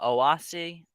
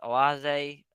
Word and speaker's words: Oase: he's a aquascaper for I call it awasi but some people pronounce oase yeah the booth and